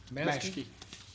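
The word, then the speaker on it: Maschke: Pronounce it again. Maskey.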